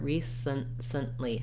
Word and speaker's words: recently: it here recently with no vowel sound between the s and the n again because we move very quickly there recently i'm almost making no vowel i wrote it here with the word scent i think it's also it's if there's any vowel there it's going to be an it or schwa a reduced vowel so not a clear recently recent recently you